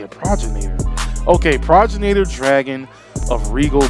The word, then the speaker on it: progenitor: That's how you say it, Progenitor.